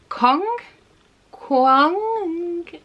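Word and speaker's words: Kuang: the poppy war and I believe you say this as RF Cong quoi my pronunciation is terrible but I know it sounds like Kong but there is like more of an inflection on the letters in this name well I believe that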